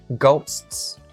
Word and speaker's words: ghosts: So it has two S's. And so Maddie said ghosts. Maddie didn't say the ghost. You don't drop either of the S's.